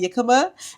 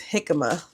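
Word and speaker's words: jícama: So the J is supposed to sound like an H, so it's jicama.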